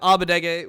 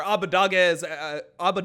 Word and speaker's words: Abbedagge: When I first made it myself, I was just saying Abbedagge, like it's the German pronoun, and then like people